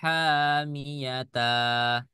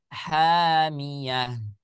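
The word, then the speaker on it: حامية: Jadi tidak dibaca tasla naron hamiyata. Tidak, ya. Atau tasla naron hamiyatan. Tidak. Nah, boleh nanti ketika kita bacanya sudah di wasol, maka dia akan masuk ke dalam rumus yang lain-lain lagi. Cuman sekarang yang kita bicarakan adalah ketika kita bicara berhenti pada kalimat ini. Maka bacanya hamiyah.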